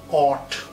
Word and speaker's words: what: সব শেষে একটু স্লাইটলি অপ্রাসঙ্গিক হলেও বলে নিই, WHAT এর উচ্চারণটা আমরা সব সময় একটু ভুল করি। এটার উচ্চারণ হোয়াট নয়, আমরা হোয়াট করি, হোয়াট ইজ ইউর নেম। না, এখানে এইচ এর উচ্চারণটা বাদ দিয়ে এ যেটা আছে, ওই এর উচ্চারণটা বাংলার অ এর উচ্চারণ যদি করি, তাহলে কি দাঁড়াবে? অট।